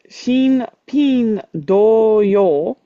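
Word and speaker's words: 新品同様: this is pronounced as Shin Pin Do Yo.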